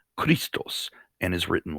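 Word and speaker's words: Χριστός: from the word christ which in greek is pronounced christos and is written like this if you take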